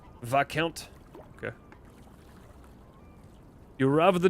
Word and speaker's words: Viscount: Oh, is there not an S in there? Or is the S just silent? Viscount.